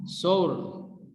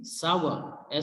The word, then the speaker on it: sour: और इसी तरह से another word which is miss pronounce, सोर, जिसका मतलब होता है खट्टा। तो आप इसको जो करेक्ट प्रोनाउंसिएशन इसकी होगी वो होगी सावर, SOUR, सावर।